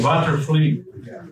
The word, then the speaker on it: Watervliet: And it's interesting that we pronounce it the way they pronounced it in the 17th century with an epithetic vowel.